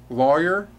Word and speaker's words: lawyer: Lawyer, because it rhymes with the word law. Or not rhyme, it starts with the word law, and so you pronounce it lawyer.